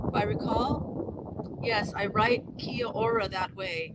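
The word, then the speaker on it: Kia ora: recall yes I write Kia aura that way it's two plus two syllables but it's pronounced as one word confusing I yeah well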